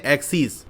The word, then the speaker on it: axes: इसका जो प्लूरल है जिसकी स्पेलिंग होती है AXES, इसको हम कहते हैं एक्सिस, तो इसका यूज होता है।